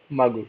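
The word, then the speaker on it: ಮಗು: you say child like uh mag magu okay magu irrespective of the gender the child is m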